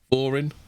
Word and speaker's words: Vorin: How would you pronounce Vorin? Is that Vorin? Vorin.